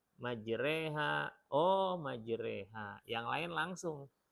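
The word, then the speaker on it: مجراها: Allah mudahkan bisa jadi ketika yang satu baca salah ya majroha ketika diingatkan ya majreha Oh majreha yang lain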